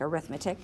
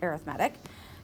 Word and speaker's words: arithmetic: Looks like arithmetic, but it's pronounced arithmetic.